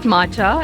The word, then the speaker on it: matcha: this is matcha Mochi we heard that it's not matcha and we've been pronouncing it wrong all our lives it's matcha so here goes